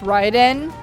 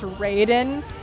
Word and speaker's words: Raiden: on all right so it's ryden if you're talking about metal gear but it's raiden if you're talking about modal combat i wish i was kidding their spell they are spelled the same way i want to die